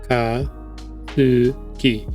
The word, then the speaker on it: Akatsuki: I gotta look at how it's spelled. Aka. No, it's Akatsuki.